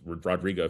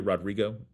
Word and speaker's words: Rodrigo: But what kind of place does Planned Parenthood have to be in where Rodrigo feels the name? Did I say her name right? Olivia Rodrigo.